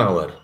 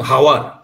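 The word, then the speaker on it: hour: लोग ऐसा नहीं बोलते आवर का स्पेलिंग क्या है एच ओ यू आर I will reach there by वन हावर हावर बोलता है क्या हम लोग नहीं एच साइलेंट होता है आवर बोल देते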